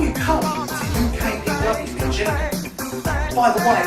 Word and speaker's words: Gillingham: Because when you come to UKPW in Gillingham, by the way, it's not Gillingham, it's Gillingham. It's spelled with a G, Gillingham.